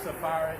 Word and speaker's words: Sepharad: I think it's Sepharad. I think that's that PH is an F.